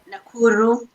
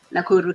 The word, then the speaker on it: Nakuru: So how do you pronounce the Nakuru? Nakuru, Kenya. Nakuru, Kenya.